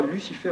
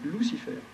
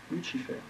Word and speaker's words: Lucifer: C'est le nom tel qu'il se prononce en réalité. En latin, on ne dit pas Lucifer, on dit Lucifer. Lucifer.